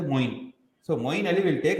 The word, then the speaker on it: Moeen: The name that rhymes with Queen is Moeen.